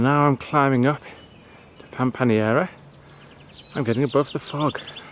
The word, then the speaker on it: Pampaneira: And then I realised the place I'm going to is not pronounced Pampaneira, as I've been saying, it's Pampaneira.